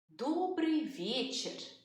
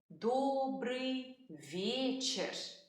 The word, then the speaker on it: Добрый вечер: In the evening we say Добрый вечер. Good evening. Добрый вечер.